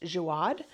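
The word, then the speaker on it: Jaouad: I think it's pronounced Jiad.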